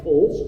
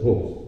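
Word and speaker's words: Towles: Tom, and I don't want to mispronounce his name, Tom Tolles? Tommy Tolles. Tolles, right.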